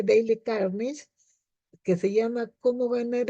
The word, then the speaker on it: Dale Carnegie: de Dale carnegie se se este escribe Dale carnegie y se pronuncia Daily carnish que se llama Cómo